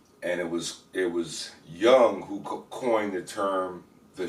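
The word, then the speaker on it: Jung: the Swiss the very imminent Swiss psychologist Carl Young um I think it's with a j and it's pronounced you know young he's German Swiss whatever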